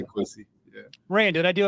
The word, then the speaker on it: Kwesi: you're sweating in your chair, we just say quy. Yeah. Ran, did I do okay with the pronunciation? Yeah. No, you're great. I just hate to hear people say qui.